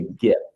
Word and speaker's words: GIF: you want to, but you're wrong if you pronounce it with the soft J. It's a hard G. It's a GIF.